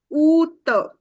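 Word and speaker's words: août: Because of the circumflex here, you need to put pressure on U. U ka sound. So, oot.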